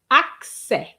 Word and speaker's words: accès: No, it's accès. Accès. So, it's like two syllables.